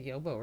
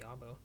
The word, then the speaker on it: Yobo: I can't even say Yobo right. It's supposed to be Yabo.